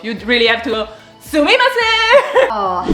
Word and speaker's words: sumimasen: Excuse me, how do you say Sumimasen.